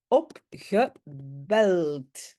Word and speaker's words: opgebeld: donc ça va être opgebeld. J'ai un D à la fin, même si je le prononce comme T, mais j'ai un D et ça c'est le fameux soft ketchup.